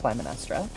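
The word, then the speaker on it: Clytemnestra: Is it a typo or is it just an archaic spelling? technically could be either, but it's pronounced Climinestra.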